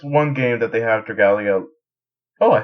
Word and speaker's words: Dragalia: So with this one game that they have, Dragalia. Oh, I said it right. Dragalia Lost.